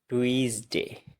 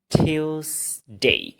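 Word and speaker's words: Tuesday: এটাকে আমরা কি বলি টুইস ডে টুইস ডে এটা টুইস না এটা হচ্ছে টিউস টিউস ডে টিউস ডে এরপর এটাকে আমরা কি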